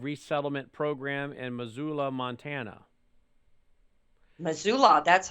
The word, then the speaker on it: Missoula: is part of resettlement program in missoula montana missoula that's how you pronounce it it wasn't as hard as i